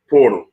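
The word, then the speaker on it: Poeltl: need somebody get Yakka portal it's not spelled like portal but that's what it is and of course imma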